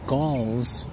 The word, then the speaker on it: gall: is one of those galls it rhymes with ball it looks like a ball but it's called a gall and early this spring